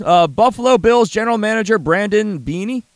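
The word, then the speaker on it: Beane: Buffalo Bills general manager Brandon Bain. How do you say his name? Bean. Just with a silent E.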